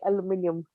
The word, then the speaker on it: aluminium: I like how you guys say aluminium.